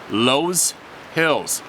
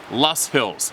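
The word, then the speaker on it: Loess Hills: january 2020 southwest iowa in the lowe's hills oh pronounced lost hills thank you overlooking the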